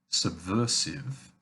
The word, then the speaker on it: subversive: And of course, there are words like subversive, which have the S as a simple S sound.